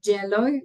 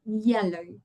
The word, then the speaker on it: yellow: same as this one that many people say jello like in J as in a J when it's actually a soft sound yellow right the same thing